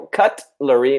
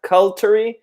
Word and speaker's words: cutlery: And just be careful, cutlery, not cultery.